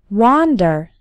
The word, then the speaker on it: wander: let's talk about pronunciation the W of wander that's the physical activity is like the W of want the one of Wonder